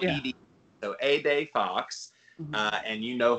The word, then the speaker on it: Ede: It's spelled Yeah. Ede. So Ede Fox.